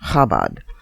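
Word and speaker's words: Chabad: Shrekinger's article is about Kabad, that's spelled C H A B A D, but pronounced Khabad. It's a global hidic movement most people have never heard of. The Khabad Lubavich, L U B-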